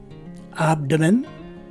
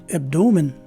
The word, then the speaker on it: abdomen: a swa sounding e so the two ways to say this word are abdomen or abdomen again abdomen or abdomen